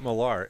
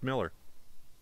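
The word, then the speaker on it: Millar: Man mark malar no it's actually it's not marar it's actually pronounced Miller it's Mark Miller he's he he has stated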